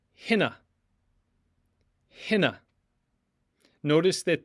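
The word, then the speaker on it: ἵνα: It's pronounced hina, hina. Notice that the iota has a rough breathing mark above it with an accent, and that's why the H sound is supplied. Hina, not ina.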